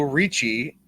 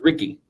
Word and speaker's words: Ricci: 100% man hundred-percent Francesco Ricci Ricky Fred it's actually pronounced Ricky Francesco Ricci defeated Fred